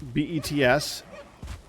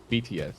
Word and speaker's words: BTS: fine that's a K-Pop group you know that bets BTS not bets well then they spelled it wrong